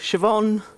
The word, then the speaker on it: Siobhan: spells out their name so siobhan will just be shev hyphen en siobhan so easy right it's not how she spells it doesn't sound that way but phonetically spelling i